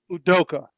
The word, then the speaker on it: Udoka: And Shaq, give me the correct pronunciation of the last name, and I don't want to mess that up. Udoka. Udoka.